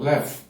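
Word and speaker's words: לב: Uma das palavras hebraicas, né, mais maravilhosas que a gente encontra na Bíblia é uma palavra bem curtinha, pronunciada como lev.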